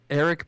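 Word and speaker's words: Arik: uh what's his name Eric aric is it aric or is it Eric it's Eric but it's spelled with an a okay a r i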